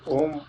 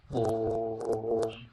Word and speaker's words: ओम: अब इस तरह से जो ओम सामान्य उच्चारण किया जाता है वह ओम नहीं है। ओम उच्चारण जब प्लुत उच्चारण किया जाएगा ऊ का, ओम, तब पूरा जो है वह ओम बनता है।